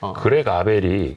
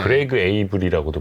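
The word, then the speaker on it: Greg Abel: 근데 이제 결국은 토드 컴스가 아니라 그렉 아벨이 후계자로 지명되긴 했지만, 그렉 아벨이 네. 그레그 에이블이라고도 불리는 네, 그 맞습니다. 같은 이름. 네, 맞습니다. 네. 발음에 따라서 네.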